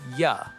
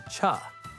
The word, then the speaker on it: you: In fast English, we rarely say you clearly. It often changes to ya or cha.